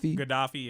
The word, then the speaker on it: Gaddafi: And they said that this started when Gaddafi, or how you say his name, Gaddafi, yeah.